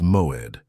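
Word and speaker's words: מועד: The Hebrew word that defines exactly what is happening to you is moed. Pronounce it with me in a low voice wherever you are. Moed. Moed means appointed time or set meeting.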